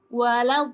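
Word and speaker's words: وَلَا الضَّالِّينَ: Contohnya nih, contohnya yang paling nyata itu di yang paling akhir waladdall. Nah, huruf dot di situ dibacanya 6 harokat. Ya, 6 harokat malah kita bacanya terlalu pendek atau terlalu panjang, itu mengurangi keindahan dan juga kemurnian bacaannya.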